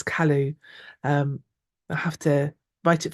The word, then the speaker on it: Calais: Lovely to meet you, Callie. I keep wanting to say Callie because I live on the edge of Wales, but I think it's Calais.